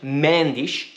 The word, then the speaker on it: Mendes: an intermediary in george mendish did i say it right yes i said it right there you go tasha said it george means portuguese approved